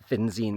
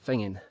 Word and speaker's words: Finzean: It says Finine, but the locals don't pronounce it Finine. They pronounce it Fingin.